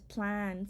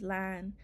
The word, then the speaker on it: plan: The word for already in our language is plan, sometimes pronounced as lan.